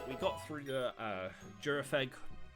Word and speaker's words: Gyarados: got through the uh jurag that's probably the better way of pronouncing that Pokemon's name we did end up